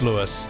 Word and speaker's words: Louis: It's not pronounced Louis, it's Lewis. Okay.